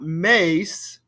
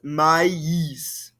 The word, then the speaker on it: maïs: It's not mace, it's maïs. There's a difference between the A sound and the I sound. Maïs. Répétez-moi, s'il vous plaît. Du maïs.